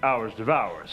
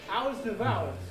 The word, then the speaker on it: hors d'oeuvres: You mean hours of hours? Is that how you pronounce it? Hours devours. Oh. It's hours devours.